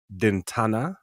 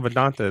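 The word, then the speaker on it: Vidanta: week's uh Mexican open at dentana how to say it vedanta man I said it wrong it man vedanta there you go you always do and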